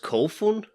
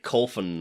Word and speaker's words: Kofun: it's pronounced really a long time ago it's pronounced kofun yep coffee i think i i think in the video i called it coffin or something like that you did call genitro